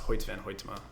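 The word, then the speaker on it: Hoyte van Hoytema: jones and cinematographer uh i believe it's pronounced hoyt van hoytema uh i probably booked you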